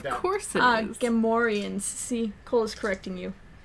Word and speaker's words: Gamorreans: Gamorreans. See, Cole is correcting you. The pig people are Gamorreans, not Gorians. Gamorreans, thank you very much.